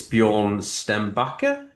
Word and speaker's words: Björn Stenbacka: I normally ask how to pronounce someone's name beforehand, but I forgot to. So I presume it's Bejorn Stem Backer.